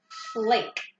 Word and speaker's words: late: okay then we have late hey I know that I'm imagining at the end so I know this a is gonna say it's a fool eight that E is silent it just its job